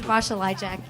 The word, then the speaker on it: Basia Lyjak: sitting down here with Basia Lyjak. Am I even close to pronouncing that correctly? That's the Polish way, but Okay. which is pretty impressive. But it's Basia Lyjak.